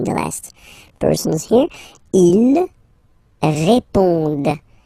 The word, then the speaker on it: répondent: Ils répondent. So same thing, here classic ending, ENT, but then you don't pronounce it.